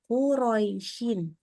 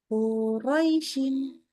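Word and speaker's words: قريش: aja quraisyin ya sempurna ini sifat Lin pendek e pendek dan lunak ini maksudnya gini antara fathah dengan ya sukunnya bacanya seimbang jangan tidak seimbang kalau yang seimbang kayak giniisin yang enggak seimbang quisin quraisin jadi akhirnya rnya tidak terlalu pas atau qu Gimana ya quraisin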